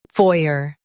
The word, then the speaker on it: foyer: In UK, stress foy and say a softly. FOYER.